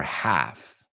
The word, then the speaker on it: half: Half, ¿se pronuncia con esa L o sin la L? ¿Es half or half? It's half, folks. The same as walk, talk.